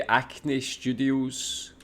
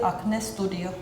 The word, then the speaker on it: Acne Studios: In Finland we would say Acne Studio. In Norwegian, we would say Acne Studio. I also noticed that the A sound is different. We say it like acne, but you guys kind of say like Yeah, it's like, Yeah.